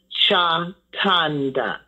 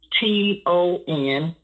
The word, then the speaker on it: Chatanda: My last name is a little bit, but it's phonetically sound just like it's spelled, Chatanda, Chatonda.